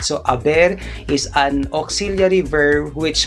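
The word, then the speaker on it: haber: bear so we do not say so this is silent age guys all right so aber is an auxiliary verb which means like has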